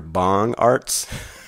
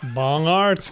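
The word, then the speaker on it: Bongartz: on this Craig Dr bong Arts I did not I'm sure that was not how it's pronounced it all b o n g a r TZ and see this is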